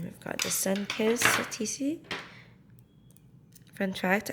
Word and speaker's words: statice: got the sun kiss TC from fact I didn't know that that's how you pronounce the TC cuz I always thought it was status but yeah I had